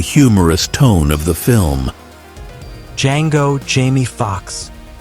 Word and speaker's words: Django: Django, Jamie Foxx. "The D is silent, hillbilly."